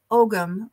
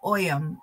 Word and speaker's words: Ogham: My brain wants me to call this the Ogham Oracle, but I believe the actual pronunciation is Oyum or something along those lines.